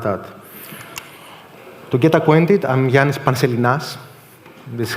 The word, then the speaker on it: Ioannis Panselinas: To get acquainted, I'm Ioannis Panselinas. This is how it's pronounced.